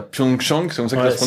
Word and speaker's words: Pyeongchang: Et au niveau de l'organisation, donc à Pyeongchang, c'est comme ça que ça se prononce?